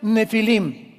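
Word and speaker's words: Nephilim: Esas palabras, si tienes tu Biblia dice gigantes, ponle nepilim con ph. Nepilim se pronuncia nefilim y significa caídos.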